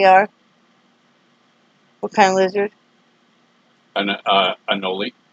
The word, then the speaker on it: anole: How do you pronounce what they are? What kind of lizard? Anole. Anole.